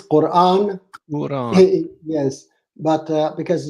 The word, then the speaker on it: Quran: you say the Quran is it Quran or Quan because she sounded like she was saying the Quran no the Quran it is Quran Quran yes but uh